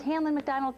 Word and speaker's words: Hanlon McDonald: I think we had his name wrong. It's Hanlon McDonald.